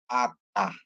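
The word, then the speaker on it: אתה: Jadi dia bacanya jadi alif itu senyap. sesuai dengan ngikut yang dibubuhkan dia. Jadi bacanya ata ya ata a ta artinya anda kamu ya orang kedua laki-laki ya.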